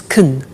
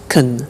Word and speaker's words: can: can speak spanish now notice the pronunciation of can becomes kun she can she can speak spanish he can play tennis we can speak german all right so can becomes con when we speak now the negative form